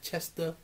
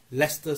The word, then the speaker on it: Leicester: look he says here on the map there Chester Square and they burst into laughing say ok it spelled like Chester but we pronounce it Leicester Square yeah you go figure what man so